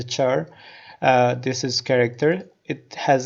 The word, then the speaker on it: char: We pronounce this as a char.